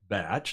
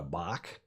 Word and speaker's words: bach: Wikipedia who say that a batch pronounced batch not a Bach also called a crib